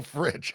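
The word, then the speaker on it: Fritsch: with something else but we'll say that for for the purpose of TV here that it rhymes with Rich or itch FR is how it's pronounced FR nol fridge okay nol I think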